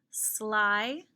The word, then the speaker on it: sly: Sly, like the sly fox, tricky, or sneaky. Sly has the Y that sounds like an I in the final position because it's a one-syllable word.